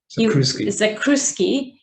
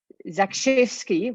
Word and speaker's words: Zakrzewski: So the firm of engineers that was appointed was ZAI, and it was Zakrzewski was his name, Michał Zakrzewski, and it's Janusz Warinkovich. is the pronunciation.